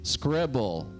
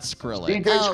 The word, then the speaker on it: Scribble: they have up there I think it's like Scribble not sprilly scribble okay scribble well then somebody said it wrong and I'm like oh